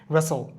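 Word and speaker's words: wrestle: হুইস্টেল আমরা বলি না হুসল বলি রেসল রেসল মানে কি কুস্তি কুস্তি করে রেসল রেস্টেল হবে না রেসলিং হবে না রেসলিং রেসলিং রেসল নেক্সট হচ্ছে আমাদের এস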